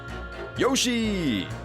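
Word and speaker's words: よし: Yoshi! The I is silent.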